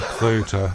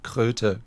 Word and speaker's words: Kröter: So, but the Goethe thing was just to help to pronounce Kröter. Goethe.